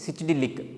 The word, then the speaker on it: psychedelic: These and all also called as a psychedelic. What it is? Psychedelic. P is silent.